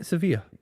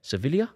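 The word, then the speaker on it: Sevilla: work out your pronunciation that's how you say isn't it sevia yeah but that's not what you said civilia civilia that's where I I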